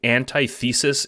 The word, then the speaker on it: antithesis: as explored through Homestuck quick note I say anti-thesis instead of antithesis in this video This is